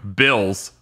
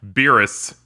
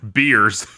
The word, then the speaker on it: Beerus: is awakening uh as as i remember he was first being pronounced when this movie was starting to uh come together bills or as they call it uh beerus or as our subs gave us beers beers yeah he's gonna